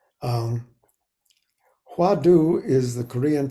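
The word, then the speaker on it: hwadu: it's really gone man you know it's um huadu is the Korean pronunciation of the Chinese wat uh which means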